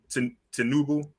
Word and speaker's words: Tinubu: Am I pronouncing that right? Tinubu.